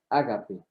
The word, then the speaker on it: ágape: dice en español y en griego ágape con acento en la segunda a ágape el ágape con